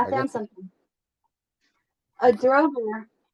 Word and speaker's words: draugr: A droger. How do you say it? Draugr.